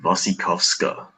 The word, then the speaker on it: Wasikowska: I think it's a Wasikowska. Ah, yeah. It's like Russian or something, or Polish.